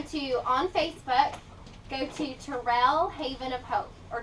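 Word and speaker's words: Terrel: on Facebook go to Terell Haven of Hope or tarell tarell Haven of Hope and tarell is spelled t e r r e l okay so if you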